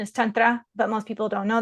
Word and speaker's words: Tantra: coaching and Tantra and so in the correct pronunciation is Tantra but most people don't know that so I'm